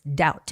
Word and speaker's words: doubt: The B is silent, so you don't make that B sound. It's doubt.